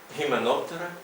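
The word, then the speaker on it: Hymenoptera: французька назва цієї літери вона вимовляється в класичній латині на німецький манер як українське г трошки полегшено гістрикс гіменоптера геріна а Не як ха особливо в останньому випадку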